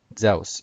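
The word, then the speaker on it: Ζεύς: It's Zeus, Zeus, or something like that. The epsilon makes a S sound, and then the upsilon, or shown here, upsilon makes a U sound.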